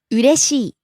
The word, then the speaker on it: 嬉しい: rises on the second syllable, re, falls on the last syllable, i. 嬉しい。